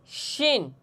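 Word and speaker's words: شين: হরফ উচ্চারণ হবে এবং জিম হরফ উচ্চারণ হবে। আসেন আমরা উচ্চারণ করি এবং মস্ক করি। শিন শিন শিন শিন শিন শিন শিন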